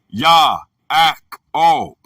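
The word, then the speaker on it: יַעֲקֹב: The word is Yaakov, pronounced Ya-ak-ob, from 6117.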